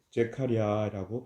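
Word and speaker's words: זכריה: 우선 안쪽에 명칭을 보시면 이스가랴서는 히브리어로 제카리아라고 발음합니다 제카리아 그 뜻은 여호와께서 기억하신다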